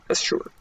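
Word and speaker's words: Asshur: of Asher there the I shouldn't say Asher because there's another guy named Asher that's spelled differently asure I should say asure there they lived in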